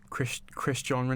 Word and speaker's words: Cristiano: Do you remember how people used to mispronounce like Ronaldo's name in primary school? Cristiano Ronaldo and Christian Ronaldo.